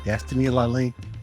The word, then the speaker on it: Destiny Lalane: Now, did I pronounce that right? Yes. Okay, Destiny Laline.